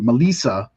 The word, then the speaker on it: Melissa: I think Melissa Barrera Melissa is actually how you pronounced her first name found that out today